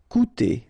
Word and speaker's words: coûter: Okay, keep in mind that even if you've got this accent circonflexe on the top of U, it doesn't change the pronunciation, so it doesn't change this combination of two vowels here, so it will be OU.